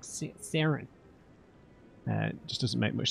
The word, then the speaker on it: Saren: for the Saren to, I know how to say it now. It's like Saren, it's like S-E-R-E-N, not the A, Saren. I think it's because in an American accent you'd say it more like Saren.